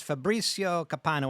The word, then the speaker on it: Fabrizio Copano: and Eleanor personality and we have with us Fabricio capano am I pronouncing that correctly perfect he is a comedian